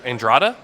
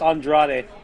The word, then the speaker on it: Andrade: troy and uh danny i can't pronounce danny's last name andreita andrada danny andrada the beat blake he beat the guy that beat blake hey hey what hey why boy um it's andrade okay okay first off i'm